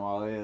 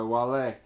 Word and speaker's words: Wale: Listen to Winter Wars by Wale. That's spelled. It looks like whale. Yeah. But it's not whale.